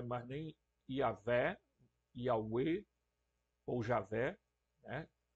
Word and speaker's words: Javé: nem Yavé, Yahweh ou Javé, né? A Convenção Internacional prefere que a gente use o termo Javé ou Iavé, né? Outros pronunciam Iaué, né?